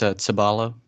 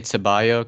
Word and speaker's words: Cebalo: Oh, it's Cebalo. Cebalo. So there's no ch. It's okay. Yeah, it's yeah, like I don't know, TS like Cebalo.